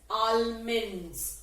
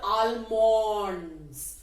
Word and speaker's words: almonds: please note this word almonds the word is a-l-m-o-n-d-s so we will feel like saying it as almonds or almonds but you must be careful the right pronunciation